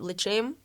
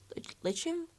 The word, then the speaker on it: l'chaim: to pronounce that but it's L CH AI AM l'chaim l'chaim like Jim yeah I'm gonna mix